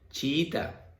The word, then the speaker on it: chiita: Chiita. Esto es una palabra relacionada con la religión musulmana. Chiita. Dos is juntas. Dos vocales débiles juntas. Separas también la palabra chi y ta, 3 sílabas, ¿vale?